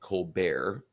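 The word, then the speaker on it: Colbert: that she makes with Stephen colar that's actually how you pronounce his name uh on the uh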